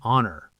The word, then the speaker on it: honor: Same with an honor.